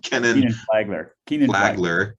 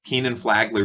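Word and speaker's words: Kenan-Flagler: canon flight flight how do you say that kenneth flagler keenan flagler business school starting as an undergraduate flickinger also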